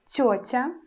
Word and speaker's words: тётя: And in the word like тётя, we will pronounce consonant letter Т as soft sound Т. And after, we pronounce just О.